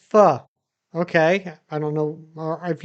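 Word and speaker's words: pho: Now, you're eating instant foe. I've never had foe. Is it good? It's pronounced fu.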